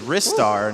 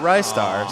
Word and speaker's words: Ristar: the couch gave ristar the correct pronunciation which is wrists are not ristar so we were wrong